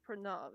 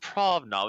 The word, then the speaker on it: Pranav: It's not pronounced Pranav. It's pronounced Pranav. It's not pronounced Provnov.